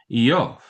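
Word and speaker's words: איוב: pretty significant difference because Job in Jewish biblical language is YOF. I Yo V a good deal different than Job.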